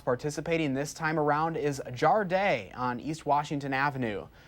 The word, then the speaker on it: Jardin: One of the spots participating this time around is Jardin on East Washington Avenue. Also called Jardine, or the Wisconsin pronunciation Jardin, it's seasonally driven farm to table restaurant tucked away at the Rubinia Courtyard.